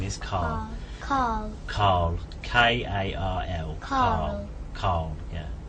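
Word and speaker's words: Karl: It seems like without an R. Yeah. I think it's my accent rather than. I think you said it right and I said it.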